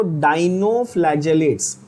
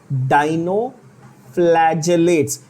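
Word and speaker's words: dinoflagellates: डाइनोफ्लैजेलेट्स। Pronunciation पे focus करना। क्या बोला? डाइनोफ्लैजेलेट्स।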